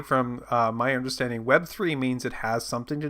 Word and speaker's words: Web3: say that they're a Web 3.0 service. And no, I'm sorry. You said it wrong. It's Web 3, sir.